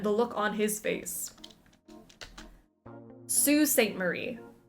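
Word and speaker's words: Sault Ste. Marie: to have seen the look on his face Sue St Marie s a u l t is pronounced Sue Sue St Marie excuse me um why why the extra letters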